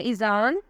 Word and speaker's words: Izaan: नाम है ईजान, स्पेलिंग है IZAAN।